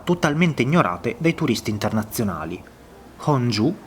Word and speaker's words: Gongju: Sono nella città di Honju, dovrebbe pronunciarsi così, una città di circa